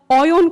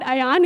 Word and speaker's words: Ayan: Oyon Kormukar. He's actually told me to pronounce his name correctly. It's not Ayan, it's Oyon.